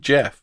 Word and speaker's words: Gef: called guess it's cooked Jeff I don't know why I don't know why he called himself Jeff and sped over the G again it's a it's